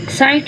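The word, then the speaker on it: sight: साइट में GH silent है, whole में W साइलेंट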